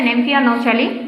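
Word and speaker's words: Nymphaea nouchali: শাপলা হচ্ছে নেমফিয়া নচালি।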